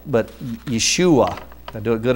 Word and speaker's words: Yeshua: The Hebrew version is, I'll try to pronounce it right, but Yeshua. Did I do it good enough, Bob? Yeshua.